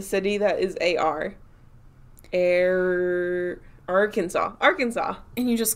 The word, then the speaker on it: Arkansas: arkansasians actually nobody from arkansas excuse me i am confusion why is it kansas but not arkansas oh yeah isn't it